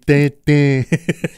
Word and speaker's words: Tintin: Le son c'est comme le pain. C'est Tintin. Ting, surtout avec l'accent du sud de la France.